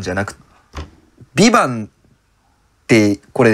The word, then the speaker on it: VIVANT: タイトルが 2 番ビバンと VIVANT っていうあーなるほどなるほど最後の T は発音してないんだ発音一応フランス語だっけなんですけど多分発音しないとなるとそう